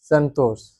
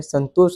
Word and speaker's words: संतोष: अलग है जैसे मतलब जैसे मेरा नाम लो संतोष हां तो इसमें आएगा संतोष संतोष मेरा सही उच्चारण कोई लेगा तो क्या लेगा संतोष हम जो लास्ट वाला श है वो जोर देके ये उच्चारण होता है।